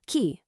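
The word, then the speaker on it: 木: For example, the kanji for a person, pronounced hito, is actually meant to look like a bipedal human walking. A tree, ki, looks like a tree with roots.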